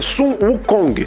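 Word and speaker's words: 孙悟空: É, a pronúncia chinesa do nome do rei macaco é Sun Wukong, que a gente já percebe que há alguma semelhança com S Goku.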